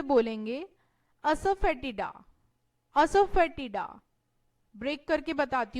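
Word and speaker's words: asafoetida: English में से बोलेंगे असफेटिडा. असफेटिडा. ब्रेक करके बताती हूं मैं से. असफेटिडा. असफेटिडा.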